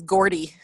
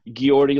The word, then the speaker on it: Geordi: I think my favorite is Gordy. Yeah. They pronounced Geordi wrong. Oh, wow, really? Yeah, Geordi LaForge.